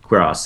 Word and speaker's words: Cuirass: Also should mention that some people making fun of your pronunciation of Assault Cuirass, that's actually how you pronounce it, Cuirass, as in queer ass.